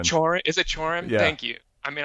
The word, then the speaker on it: Cioran: I think it's Chorin. Chorin? Is it Chorin?